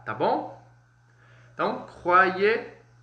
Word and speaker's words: croyez: Lembrando que o OI e o OY eles vão ter um som aí de UA, tá bom? Então, croyez e croire.